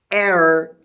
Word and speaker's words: heir: Now I'll talk and I say dishonest, heir, H-E-I-R, heir, H-E-I-R, heir.